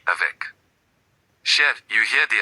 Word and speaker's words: avec: Avec, you hear the C avec.